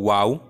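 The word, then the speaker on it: واو: মনে রাখতে পারি তো ওয়াও উচ্চারণ করতে গেলে আমাদের ঠোঁট দুটি গোল করতে হবে গোল করে আমরা উচ্চারণ করব ওয়াও তো আমরা গোলাপ ফুলটাকেও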